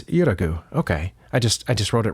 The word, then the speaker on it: Yuragu: Is it Yugaru? Was I saying it wrong the whole time? No, it's Yuragu.